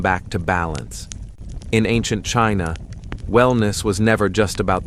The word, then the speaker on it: qi: In ancient China, wellness was never just about the flesh.